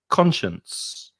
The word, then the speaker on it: conscience: we've done the b's here are some examples of a silent c in some words for example the first word is conscience i have a conscience